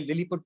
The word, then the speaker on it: Lilliput: Gulliver, इसको Gulliver पढ़ते हैं, लिलीपट पढ़ते हैं, लिलीपुट नहीं पढ़ते हैं।